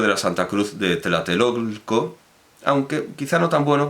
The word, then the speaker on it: Tlatelolco: Bueno, Colegio de la Santa Cruz de lo que ahora se pronuncia comúnmente Tlatelolco, pero en aquel entonces era Tlatelulco, como no se decía toltecas, sino tultecas, etc.